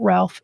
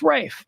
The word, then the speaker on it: Ralph: for uh Rafe finds Rafe not Ralph it's Rafe I know it's spelled Ralph but he's a pretentious a-hole so you know he wants to be called Rafe so we're going to do